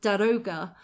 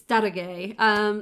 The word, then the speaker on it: Daroga: So, I mean, even for myself, I always used to pronounce the Persian's name or the Persian's job title as Daroga, and it's Darage.